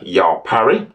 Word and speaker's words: Yaw Pare: this week is in the person of Mr ya Parry did I pronounce that right perfectly correct okay so Yao